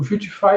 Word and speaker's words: Vuetify: O Vuetify, ele é o quê? A pronúncia correta seria Vuetify, mas eu prefiro falar Vuetify.